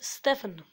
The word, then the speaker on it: Stefan: My name is Stefan. That's how you pronounce it in English.